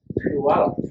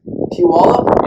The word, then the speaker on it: Puyallup: Washington State, I flew in Puyallup. Puyallup? Yeah. Wow, I used to live pretty close to Puyallup.